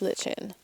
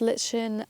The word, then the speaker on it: lichen: I know that some of you will pick me up on this, but both lichen and lichen are acceptable pronunciations for this tiny fungusy stuff. It really depends where you're from.